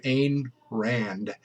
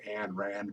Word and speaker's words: Ayn Rand: You've probably all heard of Ayn Rand. Uh, that just sounds wrong. I always want to say Ayn Rand, but I'm always corrected. No, no, it's Ayn Rand.